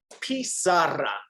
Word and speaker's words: pizarra: It's Parisi? Pizarra. Pizarra. Remember, this one sounds like pizza.